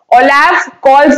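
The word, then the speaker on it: Olaf Scholz: इन द रन अप टू the elections not many expected कि ओलाफ कॉल्स, ओलाफ कॉल्स नाम है याद रखना, ओलाफ कॉल्स एस साइलेंट होगा, लीडर है ये किसके?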